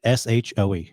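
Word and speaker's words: Hsu: Stephanie shoe then excellent on IMDb it says it's pronounced big s-h-o-e so shoe okay or show so Stephanie shoe everything everywhere all at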